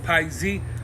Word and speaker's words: Piexi: like you know what the x you really pronounce it like the z in a lot of words you know like zero